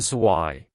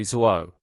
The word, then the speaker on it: zwei: Also, a tip for Zwei. When Germans are on the phone or in a noisy place, they sometimes say Zwo instead of Zwei because Zwei and Drei can sound similar in bad audio.